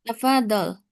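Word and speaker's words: تفضل: Nam tafadol. Hadihi ustaz. Hadi hadihial arikah. Nah. Eh pengucapan tafadol kurang ditekan ya. Tafadol. Tafad tafadol. Ya, itu zatnya kan tasdid.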